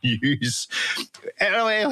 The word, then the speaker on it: N3W5: Refuse to participate in the nonsense which is pronouncing this as news.